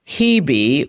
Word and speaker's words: Hebe: Asteroid Hebe, which is spelled H-E-B-E, is conjunct the ascendant.